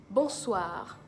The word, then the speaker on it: bonsoir: bonjour bonjour another greeting bonsoir bon soir bon soir just like the Bonjour it has the same nasal sound between the O and the end so it's bon soir and it means good